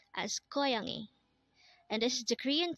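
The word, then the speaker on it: 고양이: Korean term for a student next word is koyangi again this is pronounced as koyani and this is the Korean term for catch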